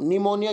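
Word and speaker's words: pneumonia: निमोनिया की spelling कहां से शुरू होती है, पी से, पी एनी निमोनिया, उसको जाता है निमोनिया।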